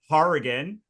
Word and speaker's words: Hourigan: I'm usually the one who has the the name that no one can pronounce, but like we're gonna say we're here with Mike Harrian uh from Written Word Media.